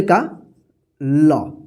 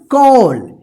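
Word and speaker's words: call: तो क्या बन गया कॉल इसी तरह से इसको पढ़िए सी ए डबल एल कॉल ठीक है ध्यान रखिएगा कि जब ए के बाद डबल एल रहता है तो ए का औ उच्चारण कीजिएगा जैसे य प देखिए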